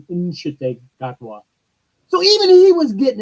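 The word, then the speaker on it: Ncuti: say your name so it wasn't sh gotwa it the N is pronounced in inwa so even he was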